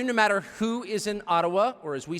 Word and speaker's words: Ottawa: taken from you no matter who is in Ottawa or as we say atawa which by the way is the correct pronunciation according to my friends in the AA